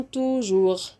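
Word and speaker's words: toujours: نو طيب احنا اتفقنا الاس مش هتتنطق والار بنطقها ار او غ زي ايه بقى يوم يعني جوغ كل يوم توجوغ صباح الغير بونجوغ انتم فو نحن نو انتم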